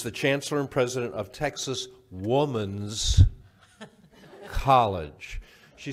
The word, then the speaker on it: Texas Woman's University: Corrine whatever said but I really care about pronouncing Texas woman's not women's college and university Texas Woman's University TWU so I've been educated already by dr.